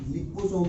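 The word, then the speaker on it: liposome: लाइपोफेक्शन विधि के अंदर लाइपोसोम या लिपोसोम बोल दो, चाहे इंग्लिश और हिंदी प्रोनाउंसिएशन का फर्क है ये, लिपोसोम या किताब में नाम लाइपोसोम दिया हुआ रहे, एक ही बात है।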